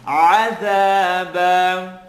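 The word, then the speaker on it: عذابا: Bite into your ayn, عَذَابًا.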